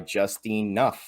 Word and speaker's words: JustineNUFF: I'm joined tonight by JustineNUFF, right?